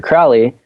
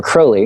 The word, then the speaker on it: Crowley: Um and the last one I listened to was uh mostly about Alistister Crowley or Crowley, excuse me. Apparently that's the way you pronounce it.